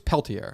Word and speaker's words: Peltier: Yeah, I think it's Peltier. I got to pronounce the T.